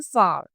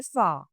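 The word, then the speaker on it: far: Indian English में फार। लेकिन जहां हम ब्रिटिश इंग्लिश की बात करें फार। हम आर को जो है वो साइलेंट कर देंगे। लास्ट नो से प्रोनाउंस नहीं करेंगे।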